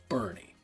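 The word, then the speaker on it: Boerne: Yes, it's pronounced Bernie, Texas.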